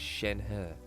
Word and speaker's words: Shenhe: call it a Shen so the pronunciation is Shen her never would have guessed